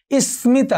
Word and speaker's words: স্মিতা: স্মিতা, মফলার উচ্চারণ হয়েছে।